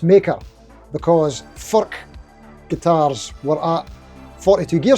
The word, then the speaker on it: Furch: taking the guitar to meet its maker, because Furch guitars were at 42 Gear Street, and I managed to get some studio time to talk with the main man, Mr. Peter Furch.